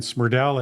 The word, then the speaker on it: Smrdel: And Smrdel, it looks wrong when you spell it out, but it's right. It's Smrdel.